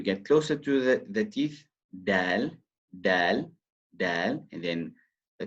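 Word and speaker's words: دال: And then we have the dal. It's closer to the teeth than the ta. Dal. And the common mistake is releasing a when pronouncing this letter.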